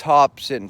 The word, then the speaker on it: Hopsin: Now, his real name is Marcus Hopsin, spelt with, Hopson. His rapper name is Hopsin with an I.